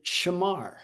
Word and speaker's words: shamar: That word for keep is the word shamar. And if I was going to spell it like phonetically, it' be s h e m a r. Shamar.